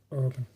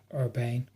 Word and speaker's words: Urbane: This watch I have here is the LG Watch Urban, or as the Americans say, Urbane, which is a lovely watch.